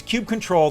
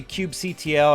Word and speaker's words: kubectl: open source, critical topics like how do you pronounce, let's go with kubectl. Okay, so it's kubectl, that's what the CTL stands for, but clearly